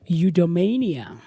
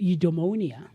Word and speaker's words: eudaimonia: And the word for the day on this Thursday morning, the 24th of July, is eudaimonia. Eudaimonia. Eudaimonia. Hey, guys, spelling, pronunciation.